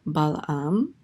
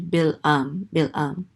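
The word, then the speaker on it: Balaam: Moab summons the prophet balam I I forget I I think the Hebrew pronunciation of this word is actually bill um so he summons him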